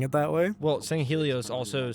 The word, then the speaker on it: Sangheili: There are some novels where the audiobook narrator calls them the Sangheili, because it's spelled with like apostrophes and stuff in there.